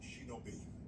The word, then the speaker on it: shinobi: It's pronounced shinobi.